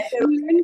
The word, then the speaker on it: Vielen: তাহলে ফিলেন কেন উচ্চারণ হলো? ভের উচ্চারণ আমরা কি করব? এফ এর মতো, তাই না?